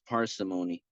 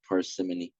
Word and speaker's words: parsimony: more severe level so it is parsimony not parimon that's a mispronunciation on my part so it's parsimony which